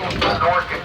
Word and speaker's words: Minorcan: The section of town behind the Columbia is known as the Minorcan Quarter. Everyone say Minorcan. Minorcan. Most of them spell it M-I-N-O-R-C-A-N.